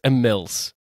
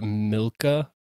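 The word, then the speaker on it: Imilce: I looked it up and there's like 3 different ways to pronounce it, so. It's always me. It's I-M-I-L-C-E. I think it's Emiles. Or Milka?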